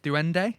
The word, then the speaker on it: duende: Let's see if I pronounce it right. Duende.